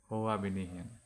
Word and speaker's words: Hoabinian: Hoabinian pronunciation মই কনফাৰ্ম কৰি দিছো Hoabinian.